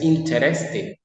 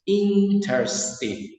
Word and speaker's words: interesting: No es interesting, es interesting. Interesting. La RE, perdón, se suprime.